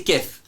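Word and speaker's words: Keth: Alors normalement c'est Kef, ça s'écrit K-E-T-H.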